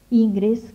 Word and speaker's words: Ingres: con este señor que se llama inglés porque me gusta decirle así como se escribe pero es aunque no en francés jean dominique ingres que es un académico